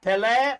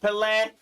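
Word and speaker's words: Pelé: pile going on yeah Pele Pele however you want to pronounce it I think it's more like Pele uh in uh his homeland uh he recently passed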